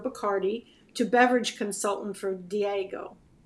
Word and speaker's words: Diageo: brand ambassador for Bacardi to beverage consultant for Diageo. Diageo. Mm-hmm. Diageo. My pronunciation here.